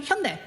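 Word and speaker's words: Hyundai: and I know what Hayundai is supposed to pronounce. It is supposed to be Hundai and Samsung is not Samsung, it's Samsung.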